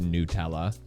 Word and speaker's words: Nutella: But the Nutella brand has clarified that it is pronounced Nutella.